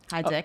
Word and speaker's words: Hydzik: find out that I met a very cool kid fresh off the boat from Poland, and he told me that my name should be pronounced Hydzik.